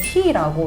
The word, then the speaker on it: H22: 뭐 H22, H22 읽는 방식은 히라고 읽는데요.